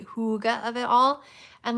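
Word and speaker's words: hygge: h y GG um which I like to say is higgy but my really annoying super amazing and wonderful friend who actually speaks Danish pronounced it the correct way for me and now I have to say Huga of it all and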